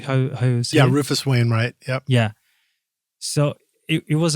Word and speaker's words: Rufus Wainwright: Yeah, Rufus Wainwright.